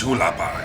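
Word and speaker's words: Hualapai: To the side, they have, and I'm going to mispronounce this, so I'm going to do an insert now. Hulapai, Shane, it's Hulapai.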